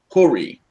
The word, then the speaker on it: Hori: And he said, Ori. Well, Not Ori, Hori.